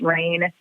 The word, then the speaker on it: Raine: That's Rain, just like it's spelled, from the sky, but with an E at the end, RAINE, magazine. And you can find us